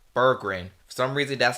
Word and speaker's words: Berggren: like throughout the video I say Brean instead of Burgin some reason that's how